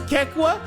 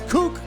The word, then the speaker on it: KEKW: was trying to pronounce Kekwa? And he was like, what's kook? If anything, it's Kek-W. What the hell is kook? How do you look at K-E-K-W and say, yo, dude, kook?